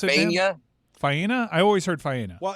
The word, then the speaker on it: Faena: So are you sure it's Faena in Miami Beach and not in Dania? Yes, it is. Fiana. Okay, that's not pronounced correctly.